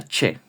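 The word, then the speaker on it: Ч: Este 4 redondito, que se parece a un 4, es la che, de chocolate. Y se pronuncia tal cual, che.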